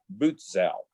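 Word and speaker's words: Butzow: good guy is lieutenant bootsau his name is spelled b-u-t-z-o-w i will be calling him boots out he is a good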